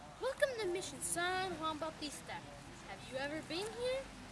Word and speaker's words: San Juan Bautista: John the Baptist but is we pronounced in Spanish San Juan Bautista and it is settled winter solstice it looks like st.